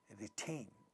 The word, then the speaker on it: retain: In this word retain, second syllable has two syllables, second syllable is stressed. In the initial position of this syllable, we have a voiceless stop, ta, and it's getting aspirated. The word is retain.